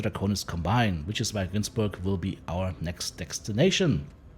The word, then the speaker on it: Günzburg: Sadly, that very scenario appears to be playing out on Günzburg. That's how you pronounce that's name, because that's how the town in Germany is pronounced that this planet is placed on.